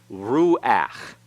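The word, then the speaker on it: רוח: is pronounced after it but when it's the last letter in a word and that letter is a guttural and the path that goes under it it's pronounced before the constant so this is rule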